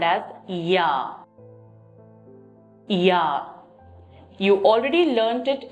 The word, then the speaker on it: ja: Yes is called as ja. Ja. You already learnt it in alphabet. J is pronounced as Y.